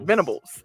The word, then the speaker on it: Venables: he's replacing brian kelly oklahoma hired clemson d.c brent venables they say his name venables as head coach to replace lincoln riley miami